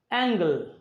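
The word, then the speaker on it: angle: অ্যাঙ্গেল, এটা এখানে জি এর উচ্চারণ গ।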